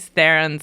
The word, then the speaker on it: Theron: were talking about how you pronounce Charlize Theron's last name.